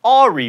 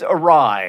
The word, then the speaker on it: awry: It's not Ari, for instance, it's awry.